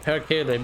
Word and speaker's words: perkele: I know what perkele means, and I also know that that's exactly how you pronounce that word.